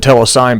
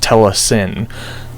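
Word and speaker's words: telecine: uh what you call it tend I said telesign before but it's properly pronounced Tes s which means uh for television from Cinema rush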